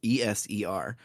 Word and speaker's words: ESER: He asks why we're here, and Elliot says that as a member of Acer, or Acer, he pronounces it different every time. It's ESER.